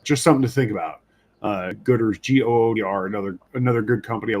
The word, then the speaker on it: Goodr: would recommend looking into a company called Gooder. It's spelled Goodr, and they kind of launched as a company making sunglasses for running.